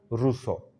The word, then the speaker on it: Rousseau: ro u ca u así se escribe pero se pronuncia ruso Okay bien tiene dos